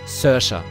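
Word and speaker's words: Saoirse: Sersha. So spricht man das aus. Sersha. Ich habe mich nochmal informiert. Sersha. Nicht Sascha, Sersha.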